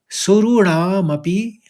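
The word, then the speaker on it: सुराणामपि: अवाप्य भूमा वसपत मृद्धम और आखरी पंक्ति यानी चौथी पंक्ति तीन शब्द यहां भी है राज्यम सुरणामपि और चाधिपत्यम तो इस तरह से उच्चारण करेंगे राज्यम सुरणा मपी चाधिपत्यम एक बार पूरा श्लोक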